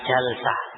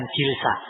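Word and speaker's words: جلسة: Nah, wa jalsatuhu, ini yang ke-8, jalsah. Nah, jadi ikhwani fillah azakumullah, jalsah itu maknanya duduk sekali. Nah, kalau jilsa itu kaifiyah, cara duduk. Ini bacanya jalsa bukan jilsa. Ya, jalsa. Nah, jalsa itu maknanya sekali duduk.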